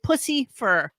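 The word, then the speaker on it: Puscifer: That cannot be the way it's spelled. No, it's Pussifer. Pussifer. Oh, like pussy fur.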